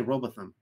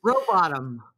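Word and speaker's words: Rowbotham: pronounce it uh Rebecca I always want to say robotham but anyways row bottom like you know you hope you don't end up in the bottom of the lake I hope your bottom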